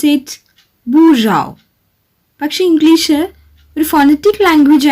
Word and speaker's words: bourgeois: How do we pronounce it bourgeois. പക്ഷെ English ഒരു phonetic language ആയിരുന്നെങ്കിൽ നമ്മൾ എങ്ങനെ പ്രൊനൗൺസ് ചെയ്യുമായിരുന്നു? അത് ബൂജിയോസ് എന്ന് പ്രൊനൗൺസ് ചെയ്യുമായിരുന്നു അല്ലേ?